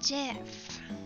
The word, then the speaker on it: GIF: in yes i say jiff i'm sorry it's pronounced jiff everyone's telling me it's